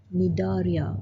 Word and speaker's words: Cnidaria: Okay, the C is silent, Cnidaria or Coelenterata, another name.